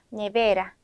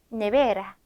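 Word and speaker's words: nevera: 아고 하는 단어가 있습니다 모음으로 끝났습니다 아에 이오우 또는 NS 끝나는 경우에는 뒤에서 두 번째 모음의 강세가 있는 거예요 그래서 네베라 네베라 이렇게 읽어 주시면 되고요 자 길도 읽어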